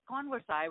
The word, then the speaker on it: Konversai: it converse on I it's converse i with a k' so a converse I